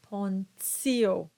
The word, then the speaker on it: Pontio: Either the hard T, as in sunt or terra, or the TS sound when you have the T that is followed by an I and usually an A or an O, and you get the T sound, the TS sound, as in gratia and pontio.